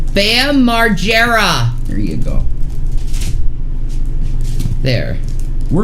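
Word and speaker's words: Margera: bam marara and Shanny the way you say his name is Bam marera Bam marera there you go there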